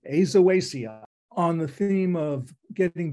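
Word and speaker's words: Aizoaceae: rather than manglewood and according to Emily that's how you pronounce it azawasia on the theme of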